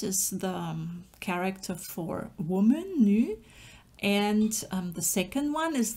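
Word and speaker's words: 女: And the first element is the character for woman, nu.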